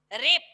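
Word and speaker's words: wrap: में इन the morning रैप डब्लू आरएसपी लिखा है 100 एपिसोड है व्हाट वी रैप रैप मतलब बांध दीजिए डब्लू साइलेंट हो जाएगा डब्लू नहीं बोलेंगे रैप तो उसको रेप करके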